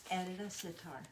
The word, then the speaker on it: Edita Sitar: line of fabric, and I keep saying her name wrong, so I got to say it right. Tell me your name. Edita Sitar.